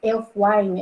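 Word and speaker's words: Ælfwine: uma versão mais antiga Elf Wine é assim que pronuncia e Wine enfim Eh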